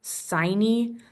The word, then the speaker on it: sine: that s is y sin that rhymes with hiney which is stupid and